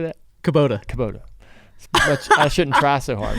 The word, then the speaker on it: Kubota: Yeah, let me pronounce that properly. Kubota. How you say that? Kubota.